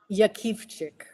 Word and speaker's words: Jakiwczyk: There's 50 variations, but it's pronounced Yakchik.